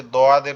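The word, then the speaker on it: ضاد: একটু বলি, সেটা হচ্ছে দোয়াদের উচ্চারণ। আমি জানি না আপনাদের এটা মাখরাজটা মনে আছে কিনা। দোয়াদের মাখরাজ হচ্ছে জিহ্বার গোড়া উপরের মাড়ির দাঁতের গোড়ার সঙ্গে লাগায়া।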